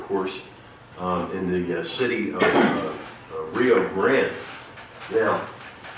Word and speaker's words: Rio Grande: area of Rio Grande be careful in pronouncing its name in the company of local people many will swear and you know say that it's fighting words if you pronounce it any other way than Rio Grande however I see some